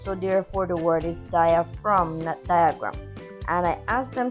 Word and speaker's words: diaphragm: explained to them that the word diaphragm has the ph that sounds like the f and then we have the g that is silent so therefore the word is dia from diagram and i asked